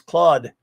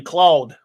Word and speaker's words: Claude: here but the actual you might think the pronunciation is Claude but it's actually cloud is how you pronounce that name CL a